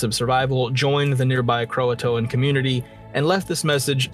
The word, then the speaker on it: Croatoan: how to pronounce it it's not Croatoan Croatoan there's another there's another letter in there if you had watched